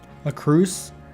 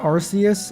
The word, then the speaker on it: Arceus: A cru. Not arus. It's a cru. Oh, am I pronouncing it incorrectly?